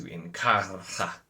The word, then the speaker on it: Inkarra: and Mirama take to Inkarra. I was a really bad R roll. Inkarra. That's always how that's always how it's said on the audio with the rolled R's, but I don't roll